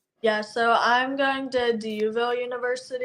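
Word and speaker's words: D'Youville: DUville. DUville. Yes. Spell that.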